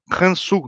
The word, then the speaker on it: Khonsu: Vão significar justamente Khonsu, né, ou como o egípcio provavelmente falava, Hansu, né, algo assim, né?